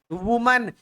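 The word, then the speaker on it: women: आप वुमन बोलो, और अगर आप प्लूरल बोल रहे हैं तो इसका प्रोनाउंसिएशन होता है विमिन, याद रखिएगा, इट्स वुमन इट्स विमिन।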